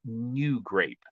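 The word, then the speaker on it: NuGrape: There's one that's very difficult to get called New Grape. It's spelled NU -grape.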